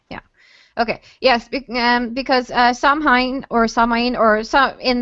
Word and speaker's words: Samhain: in Supernatural yeah yeah okay yes because uh Sam Hein or samine or some in the in Celtic organic it's supposed to be samwin that that it's pronounced like which I think is a very